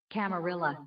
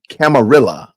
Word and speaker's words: camarilla: Let's see how they pronounce it. Camarilla. Camarilla.